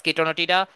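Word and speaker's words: Chaetonotidae: দিতে পারো তাহলে ক্লাস কিটোনোটিডা অর্ডার কিটনোটিডা ফ্যামিলি কিটোনোটিডাই তো ফ্যামিলির ক্ষেত্রে হচ্ছে লাস্টে ইডাই তো এটা হচ্ছে কিটোনোটিডি উচ্চারণ হয় তারপর হচ্ছে জেনাসটা হচ্ছে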